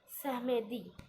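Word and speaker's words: samedi: Okay, और बोलते हैं सहमेदी.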